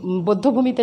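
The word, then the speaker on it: বধ্যভূমি: বদ্ধভূমি আমরা উচ্চারণ করব, কিন্তু না, এই ক্ষেত্রে ব্যতিক্রম, কোনো নিয়ম ছাড়াই বদ্ধভূমি হবে না। তোমরা যে মিরপুর বদ্ধভূমিতে যাও, এটার উচ্চারণ আসলে বদ্ধভূমি, এখানে ওকার হবে, এটা নিয়ম ছাড়া।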